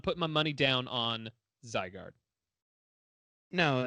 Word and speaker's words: Zygarde: Zygarde?